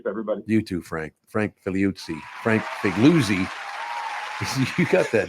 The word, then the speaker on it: Figliuzzi: You know, I grew up Catholic, Frank, so I thought your name was pronounced Figliuzzi. Oh, now you've got a true Italian pronunciation there, which is accurate, but only going to confuse people.